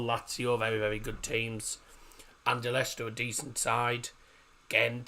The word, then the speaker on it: Anderlecht: Or Anderlecht, however they're pronounced. Anderlecht. That's the sort of German way of saying it.